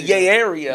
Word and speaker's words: Yay Area: in Your Heart Right say it wrong it's the yay the yay yay the Yay Area it's not like a white guy he said yeah yeah